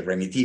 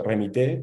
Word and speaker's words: Remitee: llama, bueno, yo dije Remití, pero, ¿ah? Y que de alguna manera me cuentes esa arquitectura inicial. Perfecto. Sí, bueno, se llama remití o remité, como lo quieran pronunciar.